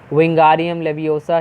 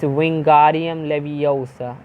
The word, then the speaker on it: Wingardium Leviosa: Wingardium Leviosa, he shouted, waving his long arms like a windmill. You are saying it wrong, Harry heard Hermione snap. It's Wingardium Leviosa. Make the guard nice and long.